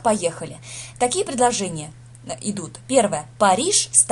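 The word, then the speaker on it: Paris: То есть, если Париж это Пари, так и будет Пари.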